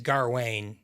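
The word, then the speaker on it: Gawain: call him dev darwin they pronounce them the king says garwayne but i mean darwin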